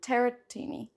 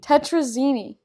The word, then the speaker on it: tetrazzini: Chicken teratini. Is that how you say it? Tetrazzini? Tetrazzini. We're making chicken tetrazzini.